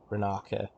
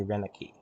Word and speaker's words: Renaka: It's interesting how they pronounce it Renaka, because looking at it, my intuition was definitely Renaki. Well, Renaki would make sense, but Renica, the I is pronounced in an entirely different way than I'd expect.